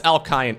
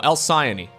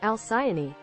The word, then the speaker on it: Alcyone: elsaion alcion al-qaini else I think it's alkyne no al-siani according to Google it is pronounced as such al-siani al-siani I think that's